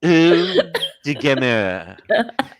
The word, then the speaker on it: Eau de Gamer: You have to pronounce it like you're French. Eau de Gamer.